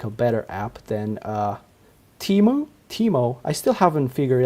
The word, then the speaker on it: Tiimo: Nicholas, but also to uh make a better app than uh Teemo. Teemo. I still haven't figured out how to say their name. It's Teemo.